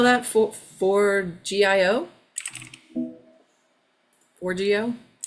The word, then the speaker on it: Forgejo: How do you spell that? For- For GIO?